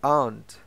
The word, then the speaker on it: aren't: Notice that the pronunciation of aunt is aunt. Res de aren't. In American English, aren't. The letter E is not pronounced. Never.